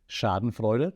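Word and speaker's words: Schadenfreude: and I will explain Sharden fuder and yet that's how you pronounce it because it's a German word um social comparison Theory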